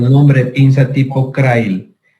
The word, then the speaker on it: Crile: nombre de pinza tipo Crail. Crail se escribe y se dice, se escribe Crile.